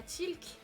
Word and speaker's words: Tilk: Ah, Tilk. D'accord, tu prononces pas le E. Tilk.